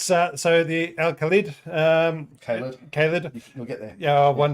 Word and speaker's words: Khalid: But the tank today we are talking about is the Al-Khalid. No, Khalid. Khalid.